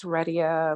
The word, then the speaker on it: Redia: yes okay hi everyone my name is redia like you're ready to go somewhere let's go um so